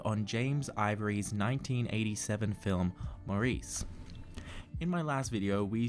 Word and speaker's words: Maurice: to pronounce maurice as maurice instead of the british pronunciation morris which is how they pronounce it in the film how dare you bully